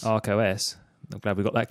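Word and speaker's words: Arkos: It's not Archos. Not Archos, in the thing that Stuart Langridge keeps banging on about. But Arcos, A-R-K-O-S. Okay. Arcos. Arcos.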